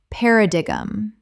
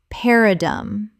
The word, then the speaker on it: paradigm: Common mispronunciation. Paradigum. Correct pronunciation. Paradum.